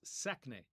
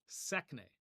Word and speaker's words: sekne: All right, and so in Palestinian Arabic, we would pronounce this sekne, sekne.